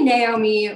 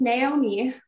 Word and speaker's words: Naomi: So it's actually Naomi, like a horse. I used to be teased for that a little bit, but yeah, it's Naomi.